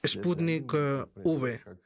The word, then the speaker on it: Sputnik V: Él lo pronuncia, y por ende yo también, como Sputnik V. V como en Victoria.